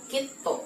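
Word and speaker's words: きっと: Jadi, itu ditulis dengan huruf ki. Kemudian su kecil dan to dibaca kito. Jadi huruf to yang terakhir itu doble.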